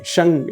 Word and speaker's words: शं: लिखा हुआ मिलता है, दैट इज श और ऊपर बिंदी, शंग इसका उच्चारण होता है।